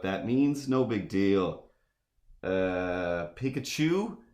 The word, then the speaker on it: Pikachu: Pikachu, of course, rhymes with electrocute you.